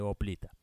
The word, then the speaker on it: hoplita: preguntan por qué digo hop lite y no oblitas por error tiene razón hombre homeopatía son palabras que derivan del griego y la h la h muda si se dice hoplita no no hay una